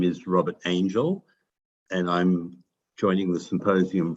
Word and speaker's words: Angyal: symposium from sydney australia my name is spelt a-n-g-y-l-a-n-g-y-a-l in case you want to google me it's hungarian for angel and my father anglicized the pronunciation but unfortunately not the spelling but i'm stuck with